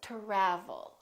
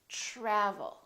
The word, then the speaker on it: travel: say try try so the T are together make this sound almost like a CHR almost like but it's a softer one it's to try try so let's look at some words that are spelled with tr try travel we don't say travel or travel we say travel tradition tradition let's try